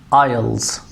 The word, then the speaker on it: IELTS: Some people they pronounce it like IELTS and others they say it is IELTS. Actually it is IELTS.